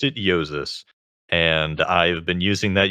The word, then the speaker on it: Jousis: And I just put in Jousis and pronounced it Jousis.